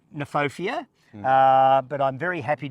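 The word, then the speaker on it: Kniphofia: say it neopia yeah I would say neopia cuz K is silent I'm not sure about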